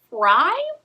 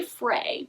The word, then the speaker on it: Frey: novel by Oscar demerio actually I believe pronounced fry but I want to say Fray because I like that better and I kind of like how they rhyme I think that might be wrong though the first book